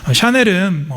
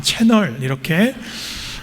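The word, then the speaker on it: Chanel: 이 샤넬을 영어식으로 읽으면 채널이라고 읽습니다. 샤넬은 불어식 표현이지요. 저도 이 샤넬이 뭔지 모를 때는 그 이름을 보고 지나가다가 채널 이렇게 읽은 적도 있습니다.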